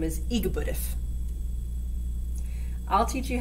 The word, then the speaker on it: EGBDF: a talented guy this musical yak's name is igbudif i'll teach you how to say it so